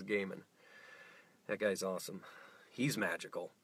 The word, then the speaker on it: Gaiman: No one knows how to pronounce Gaiman until you hear someone else say it. It's right, I had to look it up. Gaiman. It is Gaiman.